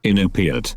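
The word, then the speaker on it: Iñupiat: Inupiat.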